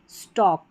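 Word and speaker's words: stalk: Number 43 पर है AL के, इसको ऑक करके पढ़ेंगे, L साइलेंट है इसलिए, वॉक, टॉक, चॉक और यह है स्टॉक।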